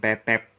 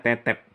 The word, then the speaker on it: Tetep: Kalau di Pararaton dia punya nama asli Raden Tetep, ya, pakai taling. Jadi bacanya Tetep, bukan tetep.